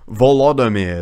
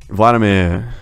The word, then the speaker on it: Volodymyr: Because you weren't saying it correctly. It's actually Volodymyr. It's like that. Ah, okay. So what did I say? Vladimir.